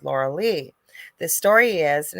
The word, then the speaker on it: Lorilei: called the lauraliz but it's spelled like but it's my name is said Laura Lee the story is and